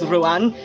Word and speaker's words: Ruadhán: It's Ruadhán. And yes, I roll my R's.